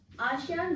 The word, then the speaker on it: ASEAN: आसियान group क्या है? Spelling है इसकी ASEAN, आसियान।